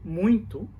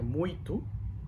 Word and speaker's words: muito: The U sound is muito. It's a nasalized sound. So you might, when the word muito is supposed to say muito, but we pronounce like a muito, and it sounds like have an N in the middle of the word, but it doesn't. It's just a nasalized.